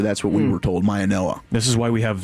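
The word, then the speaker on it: Mauigoa: Maioa, apparently. Apparently it's a Noah. I didn't realize that until yesterday, but that's what we were told, Maioa.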